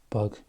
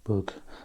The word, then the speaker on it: Bug: at the moment and really it's more of an ooh sound so the pronunciation or as correct as i can get it is actually bug so this is across